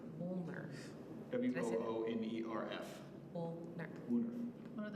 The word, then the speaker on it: Woonerf: Can you pronounce that one more time? Woonerf. Woonerf.